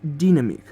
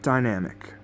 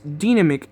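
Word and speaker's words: Dinamic: software for programming also it's supposed to be pronounced damic not Dynamic this is because damic is based in Spain and the official language there is Spanish so therefore it's supposed to me pronounce dnamic and not Dynamic but even then dnamic is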